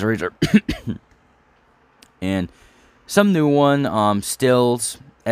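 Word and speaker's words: Raizer: It's spelled R-A-I-Z-E-R. I think that's how he says Razer.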